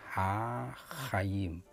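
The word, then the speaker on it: החיים: Nah, di sini ada bunyi yang mesti harus hati-hati diucapkannya, ha-chayim. Karena he dan chet itu berbeda.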